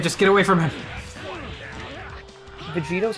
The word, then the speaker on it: Vegito: Vegito is the actual like pronunciation if you're reading it in Japanese.